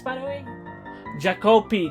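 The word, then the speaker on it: Jaakko: It was Ilmari and Jacoponi. What? I think I pronounced that incorrect, but what were the names, by the way? Jacopi. That's the name, not Jacoponi.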